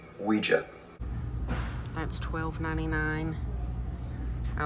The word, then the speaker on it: Ouija: Ouija what it's pronounced Ouija not Ouija comes from the French and German words for yes we and ya Ouija that's 12.99 I like that and then they have the matching placemats these are 329.